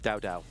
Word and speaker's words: Dao: I mean, what rhymes with Dao? Pow pow.